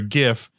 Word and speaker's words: GIF: The winner is hard G for GIF, soft G for Giles, and that was just throwing me off because did you not see the CNN?